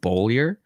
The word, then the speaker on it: Beaulieu: it's b-e-a-u-l-i-e-u underscore my last name is pronounced bowlier yes that's what i said i